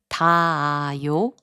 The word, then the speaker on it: 닿아요: 닿아요, which means to reach, is pronounced as 닿아요.